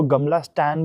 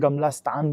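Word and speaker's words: Gamla stan: इसको गमला स्टैन बोलते हैं, गमलास्तान बोलते हैं ये मुझे नहीं पता है। बट इसकी जो स्पेलिंग है वो है जी ए एम एल ए गमला space S टी ए एन स्टैन। इसको स्टान बोल लो, स्टैन बोल लो, स्टान बोल लो।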